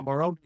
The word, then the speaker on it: Morumbi: This is a 2010 in Morumbi, is that how you say it, stadium? Yeah, Morumbi stadium.